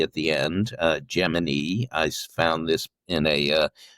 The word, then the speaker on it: Gemini: So within NASA, it's Gemini. Outside of NASA, it's Gemini. My OCD will be tingling if I try to say Gemini too much. And even reading the book, every time it came up, it was just like, no, Gemini, that's Gemini. Yeah, I can hear my English teacher now.